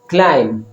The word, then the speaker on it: climb: climb be silent ہے.